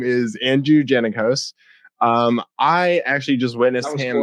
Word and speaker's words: Jannakos: His name is Andrew Jannakos. I actually just witnessed him opening. Did I say it wrong? That was close. So many people say it wrong though. It's Jannakos.